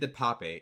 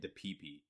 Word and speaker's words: DePape: There's no other way to pronounce it. David DePape. I think Hassan Piker was calling it DePipe, but I'm pretty sure it's DePape.